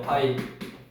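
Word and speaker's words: ∅: 그 다음에 기호로는 이렇게 원에다가 이렇게 딱 하나, 이거를 파이라고 읽어. 파이. 이게 읽는 방법이 얘랑 똑같아. 얘도 파이인데 얘는 원주율을 나타내는 거고 얘는 공집합을 나타내는 기호.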